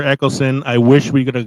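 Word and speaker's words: Eccleston: Eckleston, I know how to say it. As the ninth doctor and Billy Piper as Rose, Christopher Eckleston.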